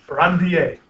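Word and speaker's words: Ranvier: don't say it okay nodes of rain beer rer no of randier like in Italy no fren he's a french guy right so it's the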